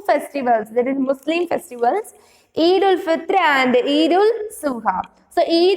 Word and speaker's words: Eid ul Fitr: So this how to pronounce is like Eid ul Fitr.